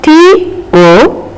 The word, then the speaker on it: tomb: And then T-O-M-B. But we say it as tomb. The B is totally silent here.